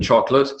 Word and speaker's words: chocolate: Chocolate has 2 silent letters. Now we're going to talk more about the final E later on in this lecture, but chocolate, silent O, and then the silent E on the end.